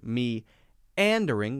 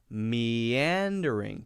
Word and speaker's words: meandering: to the next so we shouldn't say me and ring we should say meandering put a little why